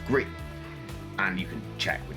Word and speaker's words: Gris: the French game, or Gris as most people call it for some reason, even though it's French and it's pronounced Gree.